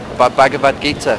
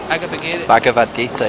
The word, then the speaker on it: Bhagavad Gita: Oh, Bhagavad Gita.